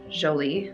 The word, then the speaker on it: Jolie: And the correct pronunciation is Jolie, so it's like a j, the J.